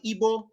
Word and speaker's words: Igbo: And then we have the Igbo. The G is silent because real G's move in silence like lasagna.